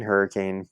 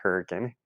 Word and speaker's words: Hurricane: It's spelled hurricane, but if you go in that town saying hurricane, people are gonna look at you like you're crazy, and no, you're not a local right off the bat, because the town's pronounced hurricane. Okay, but everyone from out of state, it looks like hurricane.